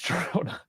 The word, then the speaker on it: Girona: I always thought it was Girona, and then he said with the J, and I know in Spanish it's silent, so Girona. I kind of went that. So it's Girona.